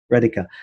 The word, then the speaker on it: Radhika: Radhika. Radhika.